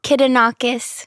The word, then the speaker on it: Kidonakis: How do you pronounce your last name? Kidonakis. Kidonakis.